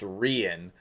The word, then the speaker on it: Rian: agreed sort of that this champion should be pronounced rhian like um what what what's an example like centurion um or any any words that end in ian like it's kind of